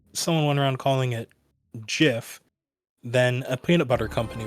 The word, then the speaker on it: GIF: So it's the hard G also just flows better. GIF GIF gif. Also, I'm pretty sure that if someone went around calling it GIF, then a peanut butter